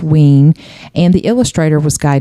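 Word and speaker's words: Wein: wean it's spelled we i n but it's pronounced wean and the illustrator was Guy Davis right and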